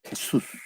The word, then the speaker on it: Jesús: No lleva el acento en la U. Jesus. En inglés es, en español, Jesús. Jesús.